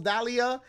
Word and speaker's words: Dahlia: It's got three syllables, Dahlia.